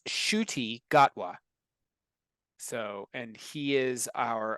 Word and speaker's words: Ncuti Gatwa: think he's Scottish randan actor uh it's it's pronounced shoy gatwa so and he is our official 15th uh